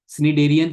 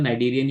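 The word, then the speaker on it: Cnidarian: सिनेडेरियन को जो है कई लोग नाइडेरियंस भी बोलते हैं, तो I don't know what is the right pronunciation. नाइडेरियन यू कैन से और सिनेडेरियन यू कैन से।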